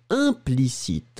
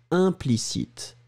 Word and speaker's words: implicite: Le deuxième, implicite. Hein, souvenez-vous, 1-1-1, nasal. Hein, implicite, explicite.